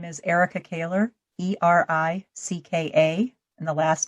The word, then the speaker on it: Ericka Kahler: go ahead eric i'm sorry erica go and spell that real quick uh my name is erica kaler e-r-i-c-k-a and the last name is k-a-h-l-e-r very